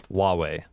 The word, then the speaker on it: wuwei: okay in all seriousness the proper way to pronounce that is Hu Hua huave there a wuwei okay so it's actually closer to to wahi than I thought wuwei gotcha yeah